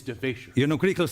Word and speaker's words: DeVasher: I didn't want Mr. DeVasher. No, it's DeVasher.